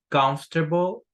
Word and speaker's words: comfortable: Estas dos letras no la pronunciamos. Decimos comfortable, comfortable, comfortable, luxurious, basic, dirty, and uncomfortable.